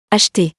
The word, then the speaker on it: acheter: In my example, the first E is in the second syllable. So we don't pronounce it. You can figure it out right now. Acheter.